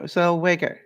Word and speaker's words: Zellweger: No, Zellweger.